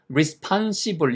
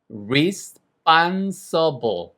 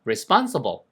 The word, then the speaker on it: responsible: 자, 그다음에 이거는 책임 있는 이것도 종종이 발음을 respons시 이렇게 혹은 responsible 이렇게 발음하시는 분이 있는데 정말 못 알아들어요.